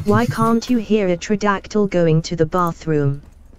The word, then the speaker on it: pterodactyl: Why can't you hear a pterodactyl going to the bathroom? The P is silent.